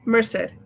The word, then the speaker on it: Merced: Is it Merrced or Merc? Merced.